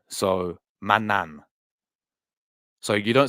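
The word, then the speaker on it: Maignan: you pronounce his name the G should be a silent G in his name so Manan so you don't say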